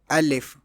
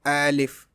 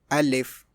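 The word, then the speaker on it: ا: First letter is al if alif. This is a silent letter unless joined with another. So pronounce it softly like al if. Some people pronounce it like al if or al if which is wrong.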